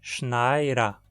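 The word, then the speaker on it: schneid er: Como o pronome se comporta como uma sílaba adicional do verbo, o D acabou ficando entre duas vogais e, como consequência, é pronunciado como um R.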